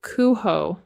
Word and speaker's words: Coohom: The program is called Kuho. That's how it's spelled.